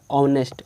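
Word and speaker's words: honest: नेक्स्ट है ऑनेस्ट मैन, यहाँ भी एच साइलेंट रहता है, ओ से होता है ऑनेस्ट, ऑनेस्ट यानी कि ओ से पढ़ते हैं तो एन ऑनेस्ट मैन।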